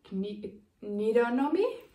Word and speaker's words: Knitonomy: Magdalena from Knitonomy, like anatomy, but Knitonomy.